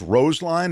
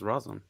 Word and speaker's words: Roseline: the Supreme Court decision yeah it's pronounced like clothesline oh it's so it's Rose line is that what you're saying Kim I thought you meant I thought it was Roslyn yeah but she's saying